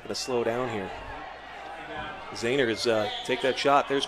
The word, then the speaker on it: Zahner: As Zahner, his name is pronounced Zahner, of Henry Zahner, which is different from his grandfather. His grandfather actually, they had pronounced it Zehner because they used to own a pork producing company called Zehner's Wieners. So, but apparently, as they've matured, they've gone back to Zahner.